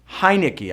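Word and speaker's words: Heinicke: Now, is it Alex Smith or Taylor Heineke? Heineke. I know you got to think Heineken and just go Heineke to say his name right.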